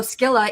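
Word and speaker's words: Scylla: spell it s-c-y that's the Roman Latin way versus the Greek way was with a k gotcha uh okay cool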